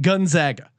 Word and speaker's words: Gonzaga: I did a deep dive on the correct pronunciation Gonzaga. Yeah, gun, not like Gonzaga. Gun. 2021, they have to say gun first.